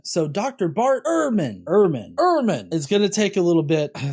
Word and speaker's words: Ehrman: of saying that uh my family says irman it originally was airmon it was a uh it was alf deutsch but uh we say irma we've anglicized it herman you're herman